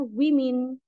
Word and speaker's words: women: E itu disebut plural Nah untuk yang singular adalah pakai a ya bacanya woman kalau pakai e bacanya women makanya di sini plural